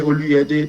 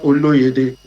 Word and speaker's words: Oluyede: Yeah, my name is Dr. Oluyede, not Oluyede.